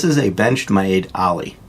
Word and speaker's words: Aller: a benched my aid Ally it's actually pronounced ally but it's spelled like you would say aller a ll ER so